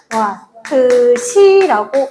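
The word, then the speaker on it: Wh: 전력에다가 시간을 곱했기 때문에 h라는 기호로 변신시켜 주고 읽을 때는 와트 C라고 읽습니다. 해서 9,000W다.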